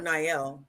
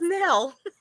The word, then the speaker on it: Nell: love the um Niel I call her nail but it's called not yeah yeah I don't know why I can't say her name right um it's Nell yeah now uh but she spells it weird I know n-e-l-l yes n y l l